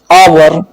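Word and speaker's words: hour: ओ से पहले आने वाला एच साइलेंट होता है, जैसे आवर, इको, ऑनेस्ट।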